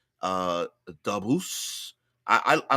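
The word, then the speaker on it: Dabus: a bu s uh dbos I I I like dbos I like to put the emphasis on the first word I think it makes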